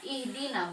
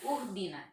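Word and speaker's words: اهدنا: familiar ya partai calo sudah betul bacanya ihdina bukan uh Bina kita lihat dari situ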